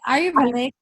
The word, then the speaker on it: Ayurvedic: Ruthie: Tell us what the, I'm going to mispronounce it but the Ayur- Aryeedic? Barbie: Ayurvedic.